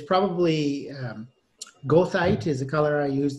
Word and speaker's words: goethite: So it's called goethite. How do you spell that? Like Goethe, the writer, but goethite because it's a mineral.